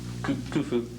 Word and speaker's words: Khufu: Was Khufu, how do you pronounce it? Khufu.